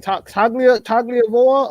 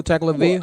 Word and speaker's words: Tagovailoa: Tagliavoa or whatever the hell you spell it. Tua Tagovailoa.